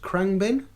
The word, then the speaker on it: Khruangbin: So Beck, Dominic Fike, I believe that's pronounced Khruangbin.